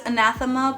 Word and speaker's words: Anathema: they are spelled, and my Spanish mind is anathema, not anathema, so I'm very sorry.